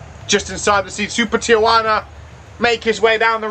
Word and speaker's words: Tijuana: Tijuana, that's how you pronounce it.